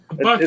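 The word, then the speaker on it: Buc-ee's: bies yeah bies yep is that the one that's pronounced or looks like it's spelled Bucky it's mainly a Texas thing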